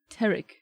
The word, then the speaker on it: Tarek: I've never heard a Tariq pronounce their name Tarek. Not one of you. Until he was like, it's actually Tarek.